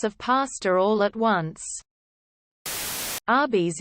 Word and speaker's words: Arby's: pasta all at once Arby's is how you would pronounce RBS as in roast beef they sell roast beef RBS Arby's that my doctor was